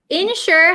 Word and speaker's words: ensure: So ensure has the same pronunciation as insure.